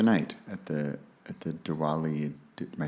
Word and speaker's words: Diwali: just the other night at the at the Diwali am I saying it right yeah ceremony yes